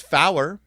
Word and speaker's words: four: and IO radio telepon four is pronounced fow uh so so to